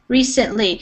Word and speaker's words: recently: of in English is the letter C has some different pronunciation. So in this instance, you might, like an American learning how to read or spell, they might want it to be spelled with an S.